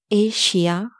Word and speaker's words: Asia: It's not Asia, it's Asia. Asia. Asia.